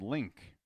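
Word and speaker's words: LYNGK: a new name probably it's called link and well it's spelled ly ng k you talked about this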